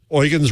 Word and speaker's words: Eugen: Is it Eugen the German way or Eugene?" He said, "Eugen's right, but I go by I kind of give up and I take Eugene."